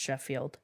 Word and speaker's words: Scofield: Last name or first name B-E, last name Scofield, but it appears to be pronounced Sheffield.